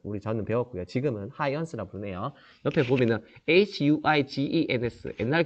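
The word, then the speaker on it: Huygens: 뉴턴에 도전한 하이원스, 앞에서 얘기했던 호이겐스라고 저는 배웠고요. 지금은 하이언스라고 부르네요. 옆에 보면은 Huigens, 옛날 교과서에는 호이겐스라고 읽었고요.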